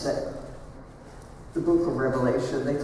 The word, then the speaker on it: Revelation: you to notice that that word in the name of that book does not have an s on the end of it many people mispronounced that The Book of Revelation they call it Revelations but it's one Revelation